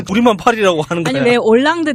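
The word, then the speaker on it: Hollande: 파리 라고 하는 그녀의 올랑드 대통령도 우리가 한글로도 올랑드 라고 표기 하잖아요 근데 그 영어로 보면 홀란드 라고 썼어요 예 h 가 앞에 있어요 그렇군요 어쨌건 요 얼굴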